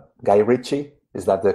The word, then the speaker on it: Guy Ritchie: Then I'm not Guy Ritchie, Is that the correct sure.